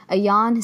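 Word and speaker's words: Ayaan: then is now stateside a yawn see really I believe is how you pronounce her name and just reading about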